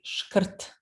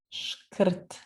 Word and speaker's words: шкрт: Скупой по-сербски шкрт. Шкрт. Здесь «р» – носитель ударения. Шкрт. Попробуйте произнести.